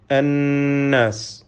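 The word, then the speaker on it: النَّاسِ: അന്നാസ്, ഇതിലെ നൂൻ മുഷദ്ദദ, ഷദ്ദ നൽകപ്പെട്ട നൂനിനെ മണിച്ചുകൊണ്ട് ഉച്ചരിക്കണം. 2 ഹറക്കത്തിൻ്റെ അളവിൽ ഗുന്നത്ത് നൽകണം എന്നർത്ഥം.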